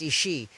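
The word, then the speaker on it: Aos Sí: The Ao-See, pronounced Ishi, literally means the people of the mounds or the people of peace.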